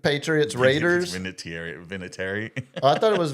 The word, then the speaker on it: Vinatieri: See, that's no, it's Vinatieri. I'm actually pronouncing it properly because I care about the Italian You're American adding culture.